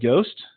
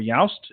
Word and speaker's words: Yoast: personally on my website, it's a plugin called Yoast or Yoast. It's spelled Y-O-A-S-T, SEO.